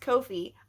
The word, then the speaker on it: Ko-fi: It's pronounced Kofi.